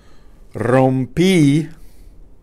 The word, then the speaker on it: rompí: Okay, so I'm going to answer this simply by saying, si, rompí, accent on the I, el reloj, or mi reloj, una vez, one time, or unas veces, sometime, or algunas veces, sometimes.